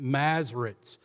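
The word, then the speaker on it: Masoretes: bit about the mazarites I know that looks like mazarites but you pronounce it mazarites the mazarites were a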